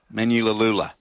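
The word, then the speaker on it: Manuleleua: And Frizzell back to the bench, as I said, with Sandon Smith, Thomas Cant, Pasami Saulo, Fletcher Hunt, and Francis Menulalula. Menulalula is how you pronounce his name.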